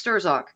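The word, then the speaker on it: Strzok: Muller the same as Peter struck is not Peter struck its sterzick all like Mahler and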